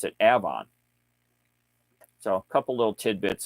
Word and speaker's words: Avon: We have a town right down the road here it's spelled Avon, but we pronounce it Avon.